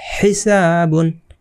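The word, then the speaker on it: حِسَابٌ: যদি শব্দ লিখি দেখি হিসাবুন হিসাবুন এটা কি হলো হিসাবুন এখানে এক আলিফ টান আছে ঠিক আছে এই যে জব্বরের বাম পাশে খালি আলিফ আছে তো এক আলিফ টান হবে আশা করছি মদের হরফ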